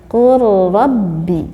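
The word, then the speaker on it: قل رب: Qul rabbi, bukan qul rabbi tetapi qul rabbi, begitu ya.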